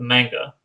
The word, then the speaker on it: manga: And then I was intrigued so much I started reading the manga, or as No, you would no, it's pronounce it, pronounced manga.